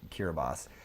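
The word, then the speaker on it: Kiribati: yeah the Republic of kiribas it's uh k-i-r-i-b-a-t-i thank you for teaching me that pure body but it's the ti is pronounced s so it's kiribas and it's an island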